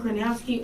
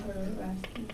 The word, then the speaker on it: Krasinski: character John Kranowski or Steve Carell? It's John Krasinski.